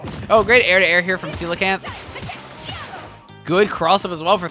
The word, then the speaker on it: coelacanth: So it's coelacanth. Coelacanth. Gotcha. Coelacanth. That's how it's pronounced.